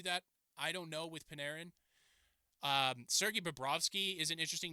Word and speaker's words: Panarin: Artemi Panarin, I've talked about him before, or Panarin, excuse me, again, pronunciation.